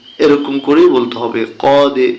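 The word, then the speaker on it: قَدْ: coffee জবর ডালে জজম কদে এরকম করে বলতে হবে কদে দেখুন তীর চিহ্ন আছে ডালের নিচে ডালকে কলকলা করতে হবে আর কলকলা করলে উচ্চারণটা হচ্ছে কি কদে ফা জবর ফা র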